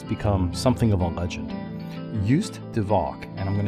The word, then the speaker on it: Joost: Joost de Valk, and I'm going to spell that J-O-O-S-T, is so famous that he's become known by a single word. It's almost the English pronunciation of his name, nickname.